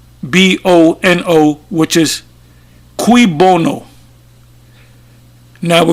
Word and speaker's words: cui bono: And the phrase is, I'll spell it C, as you can see, I'll put it up raw. It says Cuibono, which is cui bono.